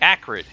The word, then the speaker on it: Acrid: You've got the Acrid.